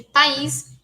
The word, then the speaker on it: país: País, a gente vê que tem duas sílabas, e cada uma dessas sílabas tem seu núcleo, que é a vogal, né? Então, o pá e o is. Em pais, é só uma sílaba, e a vogal é o A.